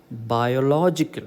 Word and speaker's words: biological: third last syllable okay so it is biological normally welcome biology so here this is biology but this is biological okay it is this particular